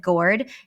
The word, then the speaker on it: Gordes: And one of the most famous abbeys is just outside of Gourd, Gordes. That's how you would like spell it if you're putting it Yeah.